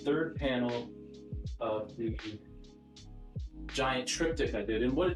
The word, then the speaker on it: triptych: All right, so next up, we have the 3rd panel of the giant triptych I did.